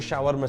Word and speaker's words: shawarma: Shawarma, not shawarma, you say it different.